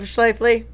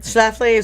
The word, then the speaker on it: Schlafly: please let Al take care of Schleifly? Whatever. Schlafly? Schlafly.